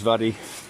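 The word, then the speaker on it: Mhadaidh: It's spelled M-H-A-D-A-I-T-H, and so I believe it's Vaddy, and it runs out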